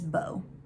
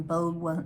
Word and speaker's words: Beau: so emerson has a son his name is bo um and that's spelt not like bo like b.o spelled like b-e-a-u um they're estranged right now bo